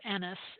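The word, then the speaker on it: Aeneas: I don't want to pronounce this I'll I'll pronounce it Anis it's aeen EAS Anis who survived the fall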